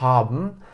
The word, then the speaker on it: haben: Sahip olmak kelimesi Almanca'da haben. Haben'ın ilk hecesi ha. Şimdi orada ha olduğu için ve ilk hecenin sonunda sesli harf olduğu için o haben diye okunmuyor. Haben diye okunuyor. Dolayısıyla uzatılıyor.